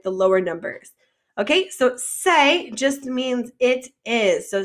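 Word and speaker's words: c'est: it's 16.80 all right that first word in bold is pronounced just like say like if i re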